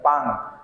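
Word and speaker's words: 빵: আছে, ইয়ং আছে, তাহলে এটার উচ্চারণ আমাকে আমরা অনুস্বরের মতো, পাং, পাং অর্থ কি পাউরুটি।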